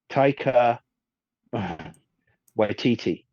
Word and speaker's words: Taika Waititi: Taika Waititi. There you go. I've definitely pronounced that wrong.